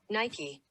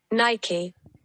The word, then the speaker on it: Nike: is interesting nike okay this is the american pronunciation yeah nike what's the other one nike thanks for holding